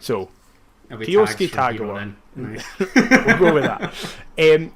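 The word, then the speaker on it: Kyosuke: Kioske. So the Suke in Japanese is pronounced ske. Like Shunsuke Nakamura. Yeah.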